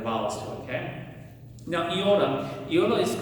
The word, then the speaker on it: iota: The way that I learned to pronounce it was the sound e. Okay. So, my my my professors uh told me to pronounce it like e like machine e.